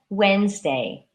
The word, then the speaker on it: Wednesday: use different different some people maintain that third syllable omelet omelet and Wednesday Wednesday so if anyone would like to join